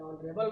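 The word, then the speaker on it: honourable: तो जैसे an hour, an honest, N ऑनरेबल मैन, an year, ठीक है।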